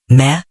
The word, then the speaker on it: me: Central to comprehending this ancient worldview is the concept of the me, often pronounced meh or me.